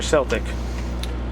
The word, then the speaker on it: Celtic: First question is, how do you say it? Celtic or Celtic? I say Celtic.